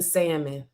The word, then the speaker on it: salmon: A person that smacks and or what's the petty pronounces the L in salmon.